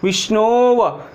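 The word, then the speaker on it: विष्णोऽव: एक बार फिर से आप मिलाएंगे तो क्या होगा, वी, शादा, ण में ओ, विष्णु, अवग्रह, व, विष्णोव, या अव नहीं बोलेंगे, विष्णोव।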